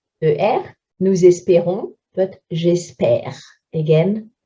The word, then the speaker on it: espère: Nous espérons, but j'espère. Again, we're putting an accent grave on the ones that have a silent E at the end.